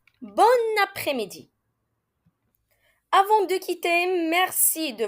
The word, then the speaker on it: bon après-midi: façon oui parce que si l'adjectif bon rencontre une voyelle on fera la liaison et on le prononcera comme son féminin bonne bon après-midi avant de quitter merci